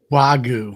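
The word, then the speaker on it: Wagyu: She's going to go into see how do you pronounce this cow to Japan. Um Wagu Wagu that's it.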